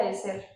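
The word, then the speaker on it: עזר: La palabra en hebreo para ayuda es eser. Se pronuncia eser.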